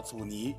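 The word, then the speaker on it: 阻尼: 我想说关于这个字的读音问题，不叫阻尼啊，就是这个字尼实际上是有 3 个音，第 3 声尼是阻止的意思。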